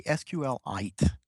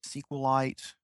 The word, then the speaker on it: SQLite: I say SQLite, like a mineral. Okay. But I also hear a lot of people say SQLite and SQLite.